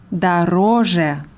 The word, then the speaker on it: дороже: Und die Komparativform ist дороже. Teurer. Die Betonung ist auf dem zweiten O, auf der zweiten Silbe. Das Suffix je ist unbetont.